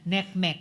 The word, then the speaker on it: NCMEC: Uh partly it's accounted for by the fact now uh bat tip NCMEC or neckmech as they pronounce it neckmech cyber tip line reports.